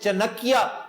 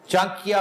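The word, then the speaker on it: चाणक्य: चांकिया, जिसे चनकिया कहकर miss pronounce करते हैं लोग, चनकिया नहीं है, चांकिया कोतलिया।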